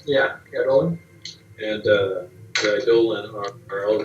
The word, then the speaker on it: Eidolon: She mentioned she pronounces the Eidolon. Yeah, Eidolon.